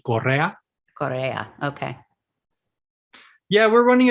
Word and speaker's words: Correa: In the Spanish pronunciation, it would be Correa.